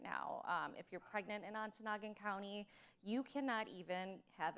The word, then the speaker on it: Ontonagon: Or Ontonagon. Yes, thank you. Did I get that right? Excellent pronunciation.